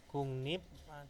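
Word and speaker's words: 국립: contoh ya herun ilbon di sini ada tulisannya adalah gukrip ya gukrip itu dibacanya apa gungnip atau Kung kungnip ya kugnip atau kungnip nah seperti ini jadi perubahannya pelafalannya itu ber hampir berbeda jauh ya Jadi kata gukrip menjadi gungnip nah ini Jadi ada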